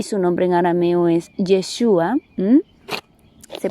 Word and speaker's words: Yeshua: Y nuestro maestro Yahushua, al que todos hemos conocido como Jesús, pero que su nombre en hebreo es Yeshua y su nombre en arameo es Yeshua, se pronuncia así.